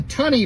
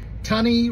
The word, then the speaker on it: Tunny: was right it's the tunny bunnies tunny rhymes with bunny it's Miss tummy's class